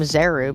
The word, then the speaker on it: Zeru: Also, also I always called him Zeru because it's Z E R U, not Z U R U.